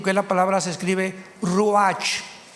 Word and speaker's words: ruach: Apunten todos ustedes, los que les interese en su Biblia, la palabra espíritu, que la palabra se escribe ruach, R-U-A-C-H, ruach, que es la palabra espíritu.